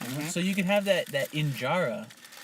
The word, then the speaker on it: injera: So you can have that injera.